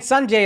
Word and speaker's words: Sanjay: You put a D in there. I put the D. It's Sanjay.